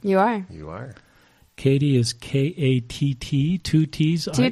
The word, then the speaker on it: Kattie: murray area allen and katie m-o-u-n-t am i saying your name's right you are you are katie is k-a-t-t two t's two teas it looks like catty but it is katie you've been dealing with